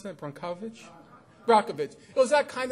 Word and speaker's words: Brockovich: How do you pronounce that? Brockovich?